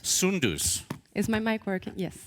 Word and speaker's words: Soundous: Come on up here, madam, because I know I'm going to butcher the pronunciation of your name. It is? Soundous. Soundous.